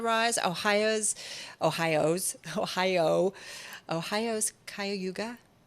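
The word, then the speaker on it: Cuyahoga: Ohio's Ohio's Ohio Ohio's kuga K am I saying it right kuah kayoga kayoga let's all say it together Kay it's a great song by RM actually that's how you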